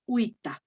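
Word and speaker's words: vita: y leo with a no voy a leer vista sino with a news with a entonces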